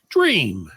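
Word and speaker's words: J'ram: that named this child J apostrophe r a m is pronounced dream I like J better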